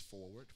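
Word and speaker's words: Forword: It's spelled Forward, but we just pronounce it as Forward, Forward Christian Center.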